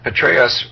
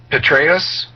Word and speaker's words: Petraeus: And Petraeus rhymes with Betraeus, and he is betraying us.